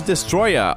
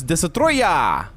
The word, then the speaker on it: Destoroyah: Tom ador Godzilla versus Destroya ou se você preferir a pronúncia japonesa como eu, Godzilla versus de Troya.